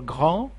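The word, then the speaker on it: grand: the same thing for gran big and told it's a huge gran it these two consonants you don't pronounce them it will be ground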